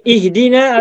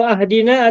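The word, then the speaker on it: اهدنا: Nah, ini ihdina atau ahdina atau uhdina? Ihdina. Tuh, ini kan D-nya kasroh maka I-nya kasroh lagi.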